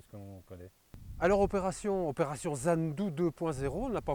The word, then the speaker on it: Zandu: On le prononce à l'africaine, donc ça finit par ou, Zandu.